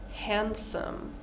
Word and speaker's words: handsome: Handsome. Edge. Bridge. One more time. Wednesday. Sandwich. Handsome. Edge. Bridge. So with sandwich and handsome, we don't say sandwich and we don't say handsome.